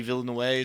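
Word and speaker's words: Villeneuve: to do like I feel like it Denny Ville in way how it's pronounced bro they're not doing that for nobody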